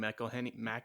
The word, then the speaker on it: McElhenney: McElhenney. Yeah, McElhenney.